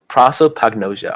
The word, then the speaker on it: prosopagnosia: How do you pronounce this? Prosopagnosia. All right, thank you. That's how you pronounce it.